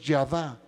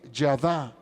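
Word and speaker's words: ידה: La palabra dad gracias en hebreo es yadá, con Y, yadá, y acento en la última A.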